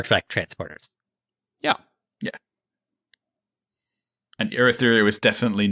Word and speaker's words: Urithiru: Navani converts Urithiru into a spaceship. See? All right. We got to have a quick sidebar here. You, Matt, are pronouncing Urithiru with a U rather than oo there.